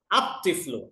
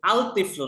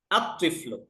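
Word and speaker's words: الطفل: এটা লেখার ক্ষেত্রে আরেকটা ফর্ম ঠিকই আসবে কিন্তু উচ্চারণে কি রকম হবে আত্তিলমিজু দেখেন তিফলুন এই যে তিফলুন আত্তিফলু আল তিফলু না আত্তিফলু আযাহরাতু আল জাহরতু হবে না আযাহারাতু রজলুনের শুরুতে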